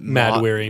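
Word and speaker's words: Mahd Wy'ry: And they call it, was it Mad-weary. Mad-weary. Yeah. And it's mad weary. Yeah. Which is, just a spelled differently. stupid Jack Kirby thing, but they spell it weird.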